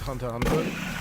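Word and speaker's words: Hunter × Hunter: Alice is pronounced hunter hunter. But why why is there an X if it's pronounced Hunter Hunter?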